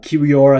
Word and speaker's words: Kiwior: get it away uh kiwior I think is is how you pronounce his name the uh young polish